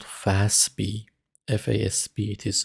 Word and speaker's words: FASB: these standards are issued by an organization called fastb fasb it is pronounced fast b financial accounting standards board is